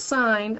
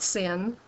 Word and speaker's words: sine: we use for these this is sign pronounce sign not sin we just use um